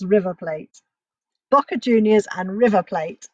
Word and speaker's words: River Plate: by my son but is River Plate I don't have to say Reaver plate it's River Plate Boca Juniors and River